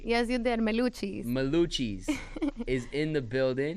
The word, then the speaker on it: Meluchis: Meluchis. Meluchis is in the building. Rhymes with blue cheese.